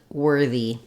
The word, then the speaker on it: worthy: So in the words worth and worthy, even though we have the letters OR, we have the ER or the sound. It's one sound. We spell it with ER in words like were. We spell it with IR in words like bird, or UR in words like turn. But all of these letters really just represent one sound, You might see it